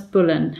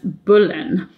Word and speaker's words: Boleyn: now you'll notice that I said Sir Thomas Boleyn now it it would have been pronounced Berlin but I just said that because I wanted